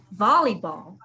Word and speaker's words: volleyball: for labor okay uh remember the stress is on the first level so we say volleyball flavor volleyball yes um